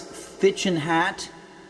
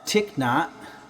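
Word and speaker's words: Thích Nhất Hạnh: I think it was Phaedrus, our friend Phaedrus, also known as Thichin Hat, also known as Tiknot, which I think is the way that you're supposed to pronounce it.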